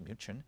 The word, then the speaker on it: Munich: get officer's quarters in Munich, which is pronounced Minion, you know, right in the middle of October Fest.